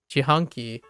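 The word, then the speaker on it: 自販機: So if you actually pronounce jihanki, it's actually really close to jihanki.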